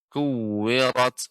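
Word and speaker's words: كُوِّرَتْ: Ya, di sini idza shin bertasydid, idza syamsu kuwirat. Ra di sini tebal, Pak. Tidak kuwirat. Kuwirat ini tipis.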